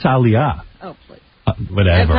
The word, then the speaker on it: Aaliyah: I think it's Aaliyah. Oh, please. Whatever. That's how it's spelled.